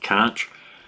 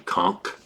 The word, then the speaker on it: conch: You're gonna want to pronounce it conch, but it's actually conch.